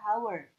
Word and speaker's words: hour: Jadi, salah satu contohnya adalah pada kata hour atau hour dibaca. Kita melihat huruf H sebagai konsonan, tapi kita mendengar bunyi O, jadi ini harus diucapkan an hour dan bukan a hour.